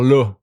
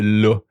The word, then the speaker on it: là: But sometimes the A is going to be O, okay? Par là, okay, instead of la. Like the word there, okay, la. In Quebec, we say là.